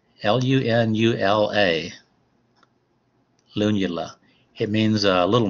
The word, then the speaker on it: lunula: When you look at the top of a nail, people have different sizes of lunula. L-U-N-U-L-A.